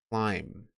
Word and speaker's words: climb: Just like thumb and lamb, you don't pronounce the B, but there is one at the end.